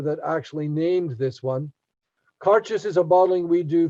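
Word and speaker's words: Càirdeas: how do you pronounce this whiskey and it's pronounced conscious exactly the way it's spelled right no cart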